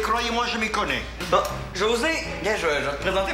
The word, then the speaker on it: José: pas José, c'est José. Parce qu'en espagnol, on prononce pas les J. Fait que ça sonne José, avec un H.